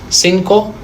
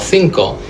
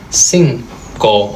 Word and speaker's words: cinco: Cinco or cinco. And now you know why. It's because the I and the E change the C to a soft C.